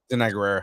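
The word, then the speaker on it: Danai Gurira: Denai Guerrera, yeah.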